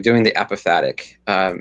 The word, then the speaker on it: apophatic: On the other hand, I'm starting something new of finding God in the contradictions, like doing the apophatic. I like that. That's how you pronounce that.